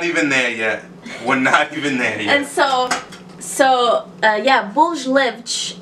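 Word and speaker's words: bolos lêvedos: That's called proofing, and that's what we're going to do with these little bolos, levolos. Tell the viewers at home how to say it for real. Oh, bolos levados.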